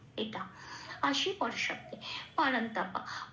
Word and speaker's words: परन्तप: তাহলে এই শব্দের উচ্চারণটা কি পাবো সংস্কৃততে? নষ্ট। এটা। আসি পরের শব্দে পারান্তাপা।